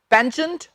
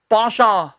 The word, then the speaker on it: penchant: मैं बोल देता हूं, इसके 2 उच्चारण हैं। पेंचेंट होता है, लेकिन ज्यादातर देशों में पता है इसे क्या कहा जाता है? पाशा। जी हां, पाशा।